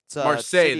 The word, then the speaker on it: Marseille: Uh way, is this Marsai? Is that how you pronounce that? Marseilles.